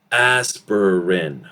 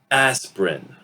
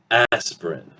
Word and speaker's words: aspirin: sometimes pronounce this as aspirin, 3 syllables, aspirin. So this I that you're seeing right here will reduce, disappear through elision, and we're actually going to pronounce this as aspirin, aspirin.